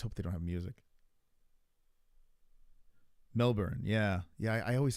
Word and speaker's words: Melbourne: scay Melbourne Melbourne I I always call it Melbourne but I think you're the person that got me into saying Melbourne which is the the appropriate way to say it right Melbourne Melbourne foot